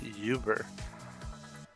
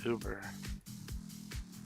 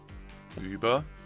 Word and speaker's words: Uber: When I first heard the word Uber from some native speakers, they pronounced it yuber. A while back I got the correction and it's actually pronounced Uber.